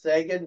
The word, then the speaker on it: Seguin: the year, assisted by Seguin, his 24th, and Suter, his 11th. Oh, I'm just kidding. And not to correct you, I believe it's pronounced Sagan, but don't quote me on that.